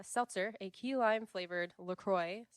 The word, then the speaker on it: LaCroix: a key lime flavored lacroy often pronounced laqua um and it is